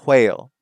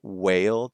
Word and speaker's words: whale: Um, there are some people who still have like an H sound in some words with an H. White or whale, right, instead of a whale.